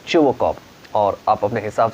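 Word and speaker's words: Chubukov: चुबोकॉव, ध्यान से प्रोनाउंस करिएगा, इसमें टी साइलेंट होंगे, ठीक है, और एस भी साइलेंट होंगे, और इसका प्रोनाउंसिएशन है चुबोकॉव।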